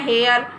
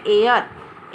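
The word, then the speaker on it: heir: आप क्या बोलते हैं बोलते हैं हेयर हेयर लेकिन यह नहीं होता है इसका प्रनंसीएशन होता है एयर एक आ यह और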